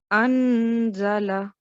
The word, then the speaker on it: أنزل: So how will you pronounce this word with a nasal sound? Anzala.